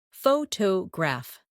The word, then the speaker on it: photograph: In English, some words are pronounced with extra emphasis on one part. For example, photograph, photographer, and photographic. The stress moves and that changes the sound.